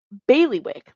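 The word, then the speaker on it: bailiwick: beyond my particular uh how do you say that word is it baileywick that's how you say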